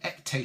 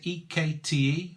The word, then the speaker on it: Ekte: It's called Ekte Spirits. I think that's how you pronounce it, E-K-T-E, or Ekte Spirits.